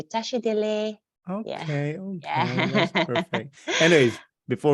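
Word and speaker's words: tashi delek: So although it's spelled delek, the K is we kind of drop the K. So we say tashi dele.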